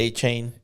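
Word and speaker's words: Achane: How do you pronounce A-Chain. it? A-Chain.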